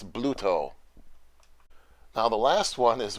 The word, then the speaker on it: Bluto: say arch enemy and some people by the way think it's pronounced Bruto it's actually not Bruto it's Bluto now the last one